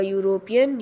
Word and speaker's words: European: A, a European U sound.